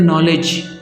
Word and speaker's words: knowledge: जैसे कि एक वर्ड होता है नॉलेज, उसमें भी K आता है, KNOWLEDGE, लेकिन हम उसमें सिर्फ N को ही प्रोनाउंस करते हैं।